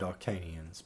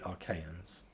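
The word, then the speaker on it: Achaeans: And I believe I just mispronounced that. I think I just said Arcanians, but it's actually Archaeans.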